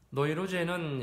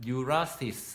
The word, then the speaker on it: 노이로제: 노이루제는 신경증의 독일어 발음이다. 영어식 발음으로는 뉴라스 이렇게 발음합니다.